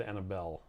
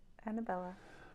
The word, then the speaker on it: Annabella: said it right no I said Annabelle uh left off the a I heard it Annabella Black River keto is